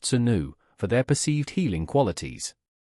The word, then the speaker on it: swnw: They were actively prescribed by ancient physicians or SWNW, pronounced senu, for their perceived healing qualities.